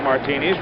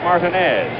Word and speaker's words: Martinez: And we've been told now I was introduced to Buck originally as Martineis. Reggie Jackson's middle name spelled the same way pronounced Martinez. Reggie's been calling him Buck Martinez for I don't know how many years, but now we're told that the absolute correctness of the pronunciation is Martinez.